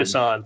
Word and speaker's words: Gasan: I'm did a great I know I'm not pronouncing it Gasan Gasan, thanks for silent N.